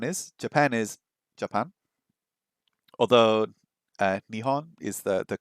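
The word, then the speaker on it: 日本: Although Nihon is the correct pronunciation, right?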